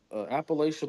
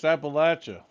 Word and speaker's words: Appalachia: But Appalachian Mountains is where my peoples originate from, and then they moved down there. Dog, Well, you up don't even north. say it right. It's Appalachia.